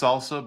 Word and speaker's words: SLSA: Yeah, let's start with the well it's pronounced salsa but it's an acronym for the supply chain levels for software artifacts.